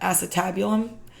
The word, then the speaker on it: acetabulum: If I marked the acetabulum, that's how you pronounce that, acetabulum.